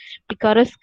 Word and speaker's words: picaresque: work it is picarasque picaresque as in epicurus novelis wherein you follow